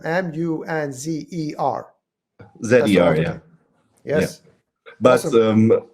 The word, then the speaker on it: Munzer: Is that how you pronounce it? Munzer? Munzer, yes.